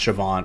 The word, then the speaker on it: Siobhan: But pronounced Siobhan, or like Owen, which is Eoighn.